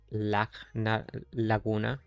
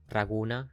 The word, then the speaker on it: Laguna: That is because the name Laguna kinda derives from Ragnarok, but it's pronounced as Laguna, Raguna, Laguna. Not directly from Ragnarok, but same deal, Laguna, Raguna.